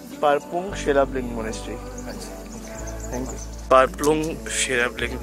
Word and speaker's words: Palpung Sherabling: I don't know how to pronounce it, but वो monastery का क्या नाम है? Palpung Sherabling. Parpung Sherabling Monastery.